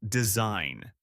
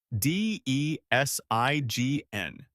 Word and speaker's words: design: The word is design. D E S I G N. The G is silent. You say design.